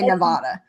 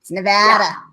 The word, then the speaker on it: Nevada: you say it because I used to say Nevada it's no bad Nevada you could sing it